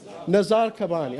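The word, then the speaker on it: Nizar Qabbani: And that's Nazir Kabani. Have we heard of this gentleman before? Have I pronounced his name right? Nazar Kabani.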